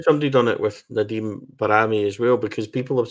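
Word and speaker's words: Bajrami: pretty sure that the the way the albanians pronounce it is barami so yeah anyway call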